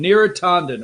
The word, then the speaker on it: Neera Tanden: So that's what they're saying, the pronunciation. Neera Tanden, all right?